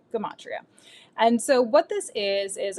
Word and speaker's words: gematria: Now, some people pronounce this gamatria. I've heard gematria. I've heard I trip over it. I've heard all kinds of different pronunciations. I call it gematria.